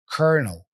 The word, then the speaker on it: colonel: what's challenging about it sometimes in English you have words that are written one way but the sound is completely different this is one of them so it's a matter of memorizing how to pronounce this word kernel kernel here's the tip memorize